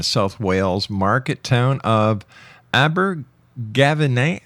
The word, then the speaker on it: Abergavenny: He was born in the United Kingdom in the South Wales market town of Abber Gavin. How do you say that? Abigavi will Oh, that's easy for you to say.